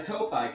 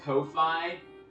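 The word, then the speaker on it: Ko-fi: It's called Kofi, but I think it's supposed to be pronounced coffee, but it's spelled K O- Fi.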